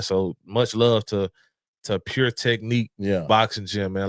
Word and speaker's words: Technik: Pure Technique, Pure. Yep. Technique is spelled TECHNIK.